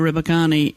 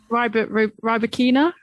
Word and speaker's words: Rybakina: well, there's a lot we could say about this young lady, Elena Rybakina, who actually won that Wimbledon final in 3 sets against Tunisia's Jabeur.